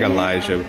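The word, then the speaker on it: Alijh: do you spell it a-l-i-j-h it's like elijah okay so before you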